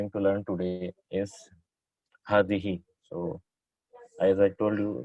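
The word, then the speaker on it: هذه: So hadihi is pronounced as hadihi, but it's written without alif. Right? It's hadihi.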